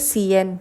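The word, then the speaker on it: cien: बोलते हैं इसको कासा लेकिन आई है यहां पे तो हम इसको बोलेंगे सीएन क्योंकि हम स प्रोनाउंस करेंगे इसको हम बोलेंगे कोमो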